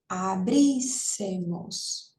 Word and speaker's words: abríssemos: Abríssemos. Isso, né? Aí tem 4, aí última, penúltima, antepenúltima. Essa daqui que é a sílaba tônica, então é isso mesmo.